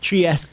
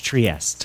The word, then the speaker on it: Trieste: Trieste in Italian or in English Trieste.